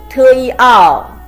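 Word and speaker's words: tiào: The pronunciation is T, iao, tiao, combination of T and iao with the fourth tone. T, iao, tiao means jump or dance.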